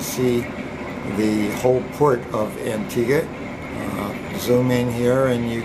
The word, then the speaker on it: Antigua: and we're leaving Antigua it's not pronounced Antigua it's Antigua and there's one ship